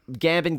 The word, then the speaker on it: Gambon: performance because he's played by how do you pronounce his name? Michael Gambon? Yes, yeah. Gambon, whatever.